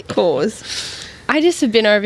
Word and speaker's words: Coors: Karen, how do you say it? Cause. Yeah, but how do you really say it? Cores. For us English people. Coors. Yeah. You got to put Coors. an R on there.